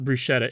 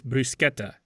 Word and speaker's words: bruschetta: It's not bruschetta, it's brusqueta or quason.